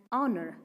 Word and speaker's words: honor: h is silent here in this world the pronunciation of the word is not however it is an hour hagine an honor not a honor an honest not a honest